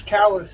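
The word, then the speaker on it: Calais: well there's a c in France but it's callus in Maine yeah yeah but this is pronounced correctly well I'm saying it's the same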